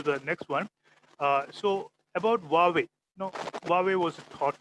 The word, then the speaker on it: Huawei: Huawei is the correct pronunciation. It's not Huawei or anything like that. Huawei.